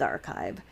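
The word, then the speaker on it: arXiv: your own publications so bioarchive and med archive are offshoots of archive uh spelled the same way just a capital r x i v and that is a multi-subject pre-print repository that has been around since 1991.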